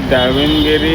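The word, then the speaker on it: Davanagere: मंगाया कॉफी और ये दावनगिरी मसाला डोसा मसाला डोसा दावनगिरी दावनगिरी मसाला ये है ना हां प्रोनाउंसिएशन अब हम सही बोल रहे हैं दावनगिरी पता नहीं दावनगिरी गिरी नहीं गिरे हां अच्छा ये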